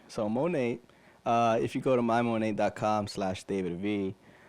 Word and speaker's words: Monat: Monate, by the way, is spelled MONAT. I thought that was a French thing, but it stands for modern nature. So it's English. So Monate, if you go to